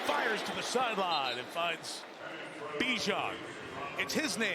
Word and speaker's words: Bijan: THAT'S THE WAY HE LIKES IT PRONOUNCED. HE SAID, HE WANTS TO BE BIJAN. YOU SURE? THERE ARE, LIKE, 20 MILLION PEOPLE WATCHING. YEAH, IT'S BACK TO BIJAN.